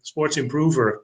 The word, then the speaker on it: SportsImproVR: next to me hello we founded sports improver that's the way we pronounce it we found a sport groover five years ago we're